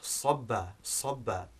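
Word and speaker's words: صبّ: But then we have sobba, which begins with sad, as you can hear, it's a heavier sound, which means to pour water.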